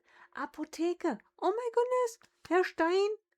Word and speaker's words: Apotheke: We have the word Apotheke, and then we ignore the H for reasons I don't know why, but we don't pronounce it.